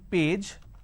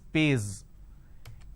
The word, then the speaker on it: page: For example, page. So instead of saying page, they pronounce this as pays.